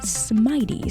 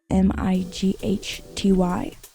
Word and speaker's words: Smighty: I think a pretty good name for it will be Smitey, spelled like mighty, so Smighty, Smitey axe, because this axe is very mighty and it has smite on it.